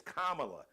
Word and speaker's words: Kamala: vice president KLA and it's kamla you all stop messing up right now outside of